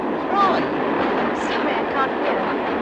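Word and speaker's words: Froy: Troy. Sorry, I can't hear. It rhymes with joy.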